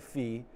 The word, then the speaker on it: phi: So if anybody who feels strongly about the pronunciation, writing F-P-H-I is not helpful to me, phi. Everyone is saying phi.